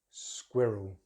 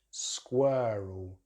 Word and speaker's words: squirrel: In the first one, we have the short vowel sound, I, in British English, and in American English, they use the vowel. So British English, squirrel, squirrel, squirrel. And it's the squid as in squid, and the rule as in rural, squirrel, squirrel.